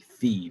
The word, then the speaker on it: phi: the greek letter phi it's spelled phi but it's pronounced like fee basically and this is called